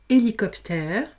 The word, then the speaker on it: hélicoptère: Franck a quitté le Maroc en, attention, j'ai un H muet, donc on ne lit que le E. Hélicoptère, et il arrive dans 5 minutes.